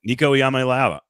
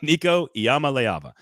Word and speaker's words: Nico Iamaleava: Did I say his name wrong? I don't think so. I think you nailed it. Nico Iamaleava. Now I screwed it up. Nico Iamaleava.